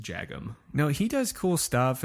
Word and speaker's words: Jagim: I didn't know if it was like that soft J. So I was on the podcast that he had. It was him and Andy Askow. And I asked him how to pronounce his name. So I feel even worse for not being positive. Yeah. But I'm 99% sure I asked him, and it was just Jagim.